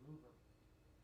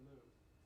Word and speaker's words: Louvre: Now that was surprising because when I went to the Louvre to see the Mona Lisa, because I had a couple trips to Paris, you couldn't get that close.